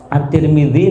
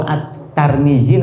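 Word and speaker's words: الترمذي: Terserah sama-sama Bisa dibenarkan karena kadang memang nama itu kalau kalau penyebutannya di negara lain kan anu Nggih ee menyebutnya menjadi berbeda at-tirmidzi nopo attarmidzi nopo at-turmudzi Saya itu punya teman Tarmidzi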